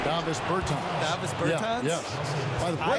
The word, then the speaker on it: Davis Bertans: Oh, well now, at this point in my life, it's Davis Bertans. Is that how you say his name? Davis Bertans.